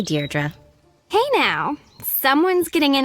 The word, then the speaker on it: Deirdre: it or something hi didi dear dra i know it's got that tricky second syllable but i figured it out by age two don't give up you'll get there sorry hi deirdre hey now someone's getting